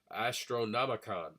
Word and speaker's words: Astronomicon: Astronomicon. Ah, that's how you pronounce it.